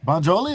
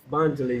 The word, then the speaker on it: Bonjali: Bonjoli, is that right? Bonjali, yeah.